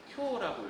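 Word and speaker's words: 今日: 그래서 금일이라고 쓰고 어떻게 읽는다? 쿄라고 읽어요.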